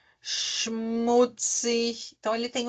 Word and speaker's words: schmutzig: Ahn, ele tem o som do X, tá? Por exemplo, Sprache, schmutzig. Então, ele tem o som do X, tá? Sprache, schmutzig.